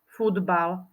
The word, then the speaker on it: futbal: tu máme na obrázku Napísala som slovo futbal ako som ho vyslovila ako ho ty vyslovíš futbal ja tam vidím napísané iné písmenko ako som vyslovila vyslovila som toto slovo správne áno nepochybuj o tom vyslovila som ho správne píšeme tam písmenko t ktoré je modré a